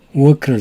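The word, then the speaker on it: walk: 때는 크 워크를 사용합니다 크이 워크를 발음할 때는 입술을 동그랗게 만들어 가지고 워크 work 아을 넣으면 안 됩니다 일한다 할 때 직장이라 할 때는 work 아을 넣었지만 그 걷는 것을 의미하는 워크는 입술을 둥그 해서 크크 school 나는 걸어서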